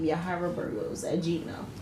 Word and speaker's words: Yahira: you on blast but a lot of people pronounce my name yira but my name is yahra yah I am from Brooklyn New York originally